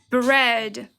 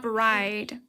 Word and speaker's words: bread: Bread. Yes. Bread, not bride.